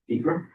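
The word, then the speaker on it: Acra: That's in Acre, and I pronounced it correctly, Acre.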